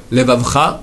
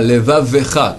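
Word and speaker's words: לְבָבְךָ: Hashem Elokecha, bechol levavecha. Pas rallier les 2 lettres, bechol levavecha, mais bechol levavecha. Maintenant, pas bechol levavcha, la fin, bechol levavecha. Il y a un levavecha, c'est un shva na.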